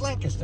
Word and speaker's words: Lancaster: It's Lancaster.